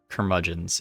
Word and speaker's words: curmudgeons: That word always escapes me how to pronounce it. I don't get it. Let's STNC, then PTSD. Curmudgeons.